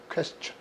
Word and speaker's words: question: question. 그런데 TI는 치 발음되게 돼 있어요.